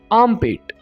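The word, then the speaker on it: armpit: आम पेट कहेंगे दोस्तों यहां पर हम आर को थोड़ा सा साइलेंट रखेंगे हम वाज तौर पर इसको प्रोनाउंस नहीं करेंगे हम कहेंगे आम पेट बगल टांग को इंग्लिश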